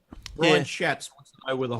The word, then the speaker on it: Schatz: Republican Senator Ron Johnson and Democratic Senator Brian Schatz introduced the legislation in the U.S. Senate Homeland Security and Government Affairs Committee. Is this, you say Brian Schatz? Yes. Oh, dear. Thank you. Spelled like the Schwartz.